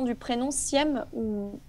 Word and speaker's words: Sihem: excuse-moi pour la prononciation du prénom Siem, ou Siam, pardon, Siem.